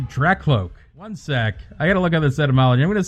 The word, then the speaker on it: Drakloak: it this entire time that's not draculoke it's a track cloak one sec i gotta